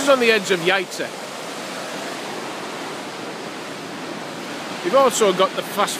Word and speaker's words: Jajce: we've come into the village of yates which i pronounced at the beginning jaxy and if you see how it's written i guess you'll understand why but you can see